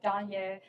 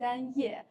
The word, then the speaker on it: Danye: My name is Danye, in Chinese Danye, but most Americans can't pronounce the name Danye. If they see the spelling, they don't know what it means. I introduce myself as Kanye with a D, and everybody knows Kanye West.